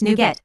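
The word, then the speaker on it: NuGet: standard formats for packages new get packages pronounced new get are a standard used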